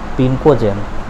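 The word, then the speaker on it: pnictogen: 15 को बोलते हैं पिंको जन टी जो लिखा हुआ है बीच में साइलेंट रहेगा पिको जन पिंको जन नाम चल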